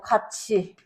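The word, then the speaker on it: 같이: 자, 대표적으로 이제 뭐 가치 가치 가치 티 여기 치조 티이이 모음을 만나게 되면서 치로 발음되는 현상.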